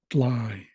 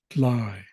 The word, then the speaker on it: dly: for Eagle chock chalk D is for dly dly and this is the word for dry so in the northern dialect they don't really use the letter R and the reason for that is because some of the language is based on other Pacific Northwest indigenous languages most of them I would say probably none of them have the letter r in them so a lot of